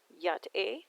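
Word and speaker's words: Yá'át'ééh: Navajo greeting for hello I take it to be pronounced yacht a I hope I got that right but it translates to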